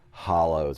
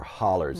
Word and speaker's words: hollow: close to each other the valleys are called hollows or hollers as we pronounce there and so driving up